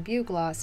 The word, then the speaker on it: bugloss: flower in the video i was pronouncing it the way it's spelled bug loss when supposedly it's pronounced bugloss bruh like i'm sorry